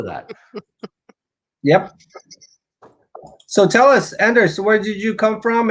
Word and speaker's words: Anders: french for baker and my first name is anders which is is swedish or scandinavian it's probably pronounced andesh originally but yeah named after